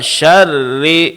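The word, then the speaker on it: شرّ: Jangan lupa syarri syarri di sini rnya tasydid pada huruf rnya juga dijelaskan. Dan ingat, setiap huruf yang berbaris tasydid sebenarnya itu adalah dua huruf yang digabung menjadi satu. Di sini huruf ra bertasydid berarti di sini ada dua ra. Ro yang pertama sukun, ra yang kedua berbaris bawah. Jadi syar syar ro yang pertama ri ri ini ro yang kedua jadi harus dijelaskan syarri coba Pak syarri waminyarri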